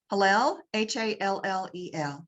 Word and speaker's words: Hallel: Barclay talks about how part of the ritual in the Passover Feast is singing of what's called the Hallel. How do you pronounce it, Claire? Hallel, Hallel, Hallel.